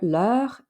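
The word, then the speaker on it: leurs: our possessive adjectives are le and get this they're pronounced exactly the same but the second one gets an s at the end because it's plural hopefully that will make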